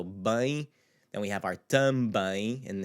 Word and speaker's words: também: So bem, then we have our também, and it has the accentuated symbol over the ein because that's the syllable that we want to accentuate, because the rule would be the so it'd be também, but it's not what we want. We want também.